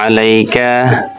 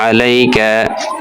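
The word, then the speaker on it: عَلَيْكَ: এভাবে উচ্চারণ করে যদি যারা আরবি পড়তে পারেন উচ্চারণ করে যদি একটা একটা করে আপনি তাড়াতাড়ি শুদ্ধ হয়ে যাবে আলাইকফুবিকা আলাইক এভাবে আপনি ভেঙ্গে পড়তে পারেন আলাইক আলাইকা গলার মধ্য থেকে আলাইকা বলা যাবে না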